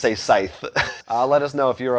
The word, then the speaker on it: Scythe: whole thing about how we were pronouncing scythe as a site instead of scythe listen we already had